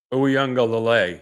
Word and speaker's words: Uiagalelei: pronouncing this ouang right ouanga yeah ouang so if you're going to used the emphasis ouanga so I'm putting the wrong emphasis on the wrong salabo that is correct and